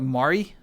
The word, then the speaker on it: Mari: Is this for or so it's more like Mari?